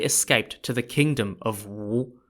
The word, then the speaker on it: Wu: For example, Wu in Wu Zishu and Wu in the kingdom of Wu, and they're also spelt differently as well in Chinese Hanzi characters.